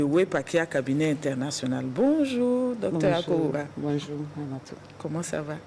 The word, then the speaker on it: Akowoura: À présent, coaching avec j'espère que je prononce bien. Wampagye Akoura, c'est bien ça?